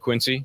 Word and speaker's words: Quincy: So, so you know it's it's really pronounced Quincy.